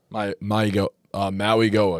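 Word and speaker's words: Mauigoa: Maui Goa.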